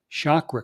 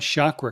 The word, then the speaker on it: chakra: Uh I just listened to something you know we pronounce it chakra. It's really chakra. Did you know that? Like a chalkboard.